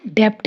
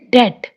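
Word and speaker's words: debt: और ये डेप्ट नहीं है, डेट, बी साइलेंट है।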